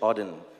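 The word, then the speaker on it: Auden: it's a part of a poem from wh odin that's how you pronounce it so i wish you first a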